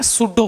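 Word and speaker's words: pseudo: Spelling को ध्यान से देखना। पी एस ई यू डी ओ ये लिखा है ना? पी एस ई यू डी ओ सूडो force.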